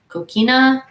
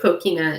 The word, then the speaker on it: coquina: a fan of called Coke weena Coquina I've heard it pronounced a variety of ways I believe Coquina is the way that I've heard it pronounced the most um a lot of